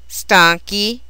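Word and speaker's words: stanchi: the singular form Stono maintains the hard C Sound in its plural forms by the insertion of an H so its four forms are Stono stanki stanka and Stan but the other three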